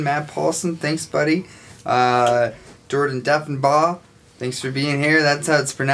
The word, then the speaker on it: Deffenbaugh: Jordan Deffenbaugh. Thanks for being here. That's how it's pronounced.